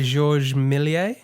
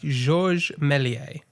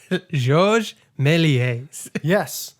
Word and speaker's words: Georges Méliès: uh george melies do you want to try pronouncing that directed by directed by georges milier directed by georges melies so it's it's actually pronounced josh for reference